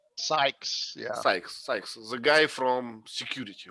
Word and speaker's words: Sykes: doctor dr nichols another one and how we pronounce it sykes sykes yes the guy from security okay now we